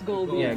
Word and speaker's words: Goldia: I think I just Goldia, it's like it's Goldia. yeah, Goldia, like gold and diamond.